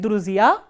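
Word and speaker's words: друзья: So, we have not dropped this soft sign, but if you look at Druzia, it has stress on the last syllable, which means on the last vowel ya.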